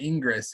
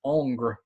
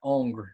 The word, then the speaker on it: Ingres: It's not Ingress. It's Ongre, which you can practice that. Ongre is how you pronounce it. It's like angry without the e, I suppose.